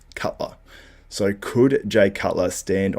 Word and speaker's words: Cutler: Tim Wilkin said, we may see a comeback that's talking about a specific name, and then Tim Wilkin said, rhymes with Butler. Obviously, Cutler.